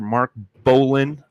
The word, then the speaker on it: Mark Bolin: in the house mr mark bolin i i'm i hope i'm pronouncing that right mark you're pronouncing it right all right perfect man